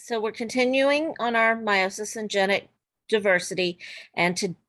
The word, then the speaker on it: meiosis: So, we're continuing on our meiosis and genic diversity. And to what this lesson, we're looking specifically at meiosis or sometimes you'll hear it said miosis because they like to pronounce all the pieces.